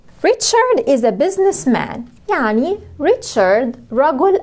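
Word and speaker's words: Richard: وننطقها باللغه الانجليزيه ريتشاردنس ريتشارد ده اسم شخص ريتشارد حرف الاي بنسمعه بصوت ايه ريتشارد ريتشارد الار اتفقنا انها تنطق في اللغه الانجليزيه ريتشارد بزنس مان يعني ريتشارد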